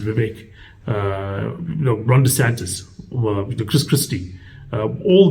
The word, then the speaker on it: Vivek Ramaswamy: There's so many people out there, Mike Pence, Nikki Haley, Vivek Ramaswamy, I think that's how it's pronounced, Vivek, Ron DeSantis, Chris Christie.